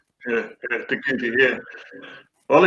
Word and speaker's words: Te Kuiti: Sorry, let's get that pronunciation right. Yeah, Te Kuiti, yeah.